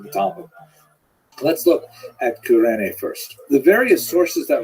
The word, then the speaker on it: Cyrene: I've looked it up and I've heard it pronounced as Cyrene in English. In Greek, it would have been something like Kurene.